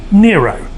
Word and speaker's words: Niro: the kia eco hybrid nero and even though it's spelt nir oh it's an ero that's correct you say